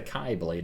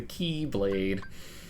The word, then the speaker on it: Keyblade: It's not the Kai Blade, it's the Keyblade.